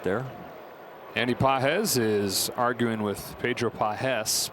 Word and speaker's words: Pages: They're from different countries, right? Andy's from Cuba. Pedro's from Venezuela. Pedro has the emphasis over the second syllable. Andy doesn't have any. He doesn't have any syllables?